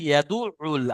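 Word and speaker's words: يدعّ: দেখেন কয়েকটা জায়গায় একটু, যেমন ফাযালিকাল লাযী ইয়াদুউল, আইনের উপর তাসদিদ আছে, আইনটা দুবার উচ্চারণ করতে হবে।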